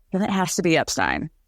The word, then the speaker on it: Epstein: life according to her the family name is Epstein my son is Brian Epstein it's ridiculous to